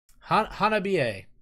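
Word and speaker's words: Hanabie: Hanabiye. Which apparently is how you pronounce it.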